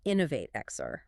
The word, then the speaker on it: Inno8XR: It's a universe created by John Grant, the founder and CEO of a company called Inno8XR, which is spelled with an 8 but pronounced Innovate-XR.